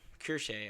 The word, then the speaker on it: Kirsche: But so this is Kirsch, Kirsche, I believe it's pronounced.